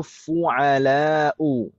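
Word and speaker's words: فعلاء: Pola yang terakhir yaitu fu'ala'u. Fu'ala'u. Huruf pertamanya dhammah, huruf keduanya fathah, huruf ketiganya fathah panjang.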